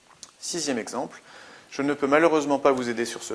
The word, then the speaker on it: malheureusement: Sixième exemple, je ne peux malheureusement pas vous aider sur ce point. Malheureusement, on a une prononciation en aimant, donc une terminaison d'adverbe qui comporte un seul M.